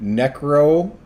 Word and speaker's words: necrobotics: So scientists are taking the first step in necrobotics. Say it correctly. Necrobotics, Necrobotics. as in dead robotics.